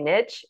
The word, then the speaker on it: niche: about your pronunciation because i say niche and that's probably that's not most common either so um that's midwest for you coming through but i niching down